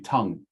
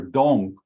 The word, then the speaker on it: Tung: And it is not Tong, because T-O-N-G would be wrong, like the Blue Poppy book did.